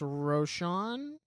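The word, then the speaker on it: Rosen: But even um it how do you say his last name? Alex Roshan, I think is how you say his last name.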